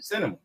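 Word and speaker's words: Sinema: how you say it is that's her name cinema Yeah, like the movies.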